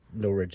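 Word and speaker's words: Norwich: a Birmingham in Alabama I guess that's Lester pronounced Lester and this is of course the Norfolk map where um no rich is at and uh so this will be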